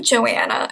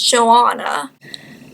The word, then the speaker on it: Joanna: my name and that it's not really Joanna and it's Joanna.